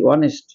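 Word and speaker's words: honest: হয় দেখবেন এইচ ও এন ই এস টি অনেস্ট অনেস্ট উচ্চারণটা কি হচ্ছে এখানে অনেস্ট অনেস্ট মানে সৎ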